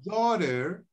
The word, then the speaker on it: daughter: rhyme with bowed wow daughter in daughter leave the gh out daughter daughter leave the